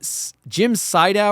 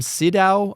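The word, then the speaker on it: Siedow: So it's the character is once again played by Jim Sydow or Jim Sidow. I don't know how you want to pronounce it. Jim Sydow. I'll say Sydow.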